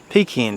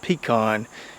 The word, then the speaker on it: pecan: we've got that big pecan tree to deal with and for those of you who are confused on the pronunciation it's not pecan it's not pecan it's pecan and if you've ever had